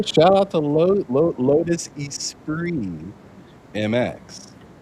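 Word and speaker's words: Esprit: I always thought it was weird that they pronounced it Espree. Espree. Oh, yeah. You're talking about Yeah. Yeah. Yeah. It looks like it says Espirit, but it's Yeah.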